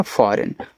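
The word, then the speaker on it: foreign: आगे एफ ओ आर ई आई जी एन। तो यहां इसको पढ़ते हैं फॉरेन।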